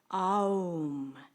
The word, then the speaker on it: Om: There are 3 syllables. It starts with ah, and then goes to o, oo, and then aum.